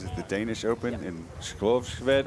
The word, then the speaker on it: Skovshoved: Was it the Danish Open in Skovsved? How do you say Skovsved? Skovshoved? Yeah. Yeah. Something. You say it better. Skovshoved.